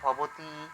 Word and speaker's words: ভবতী: ভবতি ঠিক আছে ভবতি আচ্ছা এটা কিন্তু দীর্ঘ স্বর এটা ঠিক আছে দীর্ঘই ইকার রয়েছে দীর্ঘ স্বর হবে উচ্চারণটা তাহলে ভবতি আচ্ছা তাহলে ভব শব্দরূপ